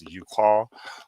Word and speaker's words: Uqqal: I'm going to pronounce it as Uqal, who hold the faith secrets, and secular ones known as Juhal, whose focus on worldly matters.